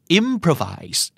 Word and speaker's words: improvise: improvise ใช่ไหมครับลองดาวครับอิมโพรไวส์คำที่มี 3 พยางค์นี้เจ้าของภาษาจะเน้นตรงไหนครับ 1 2 3 เฉลยครับ improvise อิ่มเฟอร์ Find him though เน้นนะครับเพราะเป็นสวาทนะครับเพื่อไม่โผล่เลยครับเผื่อแล้วก็มาฝ่ายมายไว้นะครับไม่ว่าแหวนจะเป็นวอควบพอมันสัตว์สระ เต็ม by improvise